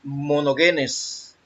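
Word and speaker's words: μονογενής: Se pronuncia monogenes.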